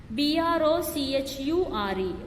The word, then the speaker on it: brochure: Okay, CHATEAU, chateu, CHEF, chef, BROCHURE, brochure. Okay, here CH is pronounced as sh.